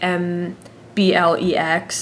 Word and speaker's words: MBLEx: I think it's called MBLEX. It's like MBLEX is how you pronounce it.